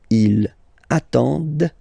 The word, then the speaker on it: ils attendent: And the last one, same thing, classic ending for il, elle at the plural form, ENT, but then you don't pronounce them. Ils attendent, de, okay?